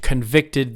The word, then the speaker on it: convict: to jail the judge convicted the criminal okay so that's the that's the verb right the judge convicted the criminal how about the noun remember how this works that's on the first syllable the huh that's right